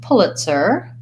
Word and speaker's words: Pulitzer: was for Pulitzer Prize so Pulitzer sounds it's kind of one that doesn't really match the spelling but it's a person's name so that's probably why so it sounds like the word pull has well uh that's the vowel input pull could etc pull it lacks a foul sir-sir has a TS sound and then an ER sound pull it sir first